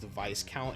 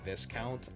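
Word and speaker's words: viscount: Yeah, I learned recently that it's actually pronounced vice count and not this count.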